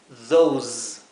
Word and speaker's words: those: Fíjense que la palabra those, que significa esos o aquellos, se pronuncia al final con una S vibrada, como un zumbido. Z, those.